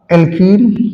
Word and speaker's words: alkene: एक होगा आपका एल्कीन, क्या होगा, एल्कीन, और दूसरा होगा एल्काइन।